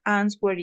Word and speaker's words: answer: off because he always answers it. He always answers it. Good. Vamos a answer, se pronuncia así, answer, no answer, sea answer. Okay. Yes. Answer. Can you repeat? Answer. Answer. ¿Sin la W?